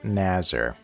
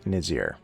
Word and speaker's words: Naazer: Who is Naazer, also sometimes pronounced Nizir?